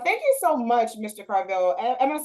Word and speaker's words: Corvell: to Jason uh thank you so much Mr cravello am I saying it correctly Carvel you are saying it correctly but you don't